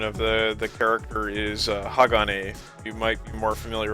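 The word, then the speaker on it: 鋼: is or steel the epic quote unquote Japanese pronunciation of the the character is Hagane you might be more familiar with that than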